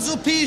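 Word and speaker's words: Suppé: Franz von Suppe schreibt er sich und so wird er auch ausgesprochen, ja?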